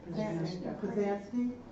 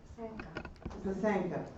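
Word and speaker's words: pysanka: Pazansky? Oh, Pasanka eggs.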